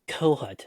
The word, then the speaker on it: Kohut: Is it Kohut? It's Kohut, rhymes with donut. Kohut.